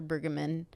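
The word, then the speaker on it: Brueggemann: how I think it's Walter bamman bamman is that how you say his name yeah yeah talks about how the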